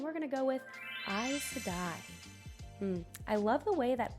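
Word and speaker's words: Aes Sedai: looks on a page i'm a weird sucker for silent letters in the way a word looks and the aes just it looks very nice and the way you say i sedai i don't know i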